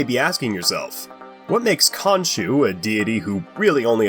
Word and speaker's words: Khonsu: rule is today's topic konu yes I pronounce it like the Marvel Comics it's technically correct just not as popular as k Sue is like Hades he